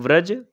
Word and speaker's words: ब्रज: इसमें ब्रज, ब्रजभाषा और ब्रजमंडल शामिल हैं।